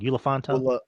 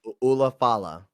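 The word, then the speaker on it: Ula Fala: And then the show ends with Solo holding up the I keep saying it wrong. Ulafanta? Ulafala. Ulafala. Ulafala.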